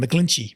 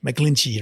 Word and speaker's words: McGlinchey: right right how do you say his name mcglinchey mcglinchey right I'm saying saying it correctly okay so